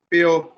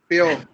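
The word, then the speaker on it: bao: पेओ। क्या बोलेंगे? पी पेओ नहीं, पाओ बोलेंगे, बेसिक साउंड है ये।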